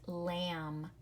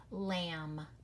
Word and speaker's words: lamb: the MM sound like lamb or comb you're right it's the M be very good the last letter and that one is silent you do not hear the B lamb comb and then this